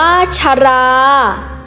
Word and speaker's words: ชรา: อักษร ต่ำ ด้วย กัน ให้ อ่าน ออก เสียง เป็น สอง พยางค์ พยางค์ หน้า ให้ ออก เสียง คล้าย ประสม สระ อะ เครื่อง เสียง คือ พยางค์ หลัง อ่าน ออก เสียง อักษร ต่ำ ประสม กับ สระ อะ ตาม ปกติ หรือ อ่าน เหมือน ไม่ มี หอ น้ำ ชรา อ่าน ว่า ชรา ทนาย อ่าน ว่า ทนาย พลัง อ่าน ว่า